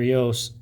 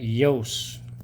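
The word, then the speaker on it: Iooss: And they talk about in his uh here how to how to pronounce his name. Walter Yos. Suspend disbelief and pronounce that Yos.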